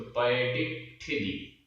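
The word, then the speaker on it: पयडिट्ठिदी: इसमें आधा टा और ठा, तो इस कारण से थोड़ा सा इसमें स्ट्रेस आ जाता है इसके पूर्व वाले अक्षर में, तो पयडिक ठिदी ऐसा उच्चारण हो जाता है।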